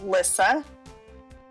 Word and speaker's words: Lissa: people say it wrong it's Lissa not not Lisa but Lissa late alright to explain